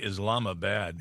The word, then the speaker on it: Islamabad: The name, Islamabad, Islamabad. Yeah. I'm like going. They pronounce it Islamabad.